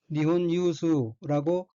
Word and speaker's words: 日本有数: 있을 유자 및 셀 숫자로 되어 있고 일본어로는 니혼 유수라고 읽으며 일본에서 손꼽을 만함 이란 뜻입니다.